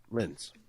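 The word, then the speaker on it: Lins: Phillipe But how do you say his last name? Lintz. It is Linz, yeah.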